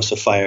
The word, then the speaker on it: Sophia: I call her Sophia. Okay. And you can call her Sophia if you like, but I call her Sophia because it rhymes with desire.